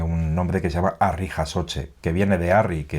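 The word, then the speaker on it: harri jasotze: En castellano se dice levantamiento de piedras, pero en euskera tiene un nombre que se llama arri jasoche, que viene de arri, que es piedra, y jasoche, levantar.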